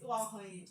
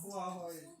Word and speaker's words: Uwakhonye: And one thing interesting about my surname is that you actually need to smile to get it right. You can't smile. Get it right. Yes, you won't pronounce it right. Uwakhonye. Oh, Pronounce. Uwakhonye.